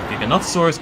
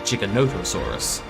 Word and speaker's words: Giganotosaurus: i mean the giganotosaurus a lot of people say giganotosaurus giganotosaurus blah blah but technically it should be chicka notosaurus it's the pronunciation waveness again is the portuguese way pronounced i turned it